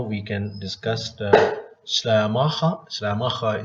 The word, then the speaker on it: Schleiermacher: Schleiermacher is the pronunciation in German, but in English, I think it is Schleiermark.